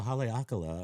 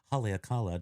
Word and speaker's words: Haleakala: Point of fact, the more we know says that in Hawaii, on the volcano Haleakala or Haleakala, depends on how you want to pronounce it accurately or not.